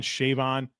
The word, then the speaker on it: Siobhan: He did an interview where he finally came out where like people figured out that S h a vo n is like you would say Siobhan shavon it's Savone and he said